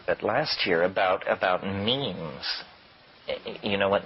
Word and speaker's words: meme: last year about about means you know what means our means are the smallest units of a concept and they're like genes the word is deliberately constructed to rip to rhyme with gene and so when I